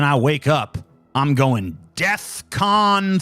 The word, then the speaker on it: DEFCON: life thinking that Defcon is pronounced deathcon oh my God